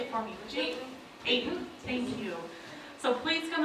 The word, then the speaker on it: Ayton: Ayton, thank you.